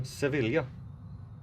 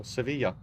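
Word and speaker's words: Sevilla: um hopefully end in sevila or Seva however it's supposed to be pronounced I know it's two L's so it's a j Spanish is weird um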